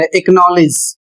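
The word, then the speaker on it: acknowledge: दूसरा नियम लिखा हुआ है के या q से पहले यदि सी आता है तो सी साइलेंट हो जाता है।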